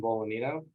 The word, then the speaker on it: Bolognino: Hi, my name is Bolognino, and the G is silent.